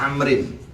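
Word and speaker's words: عمرو: Nah kalau ada kalimat ain, mim, ro, lalu ada waw di belakangnya, nah itu isim sorif. Dibacanya amrin.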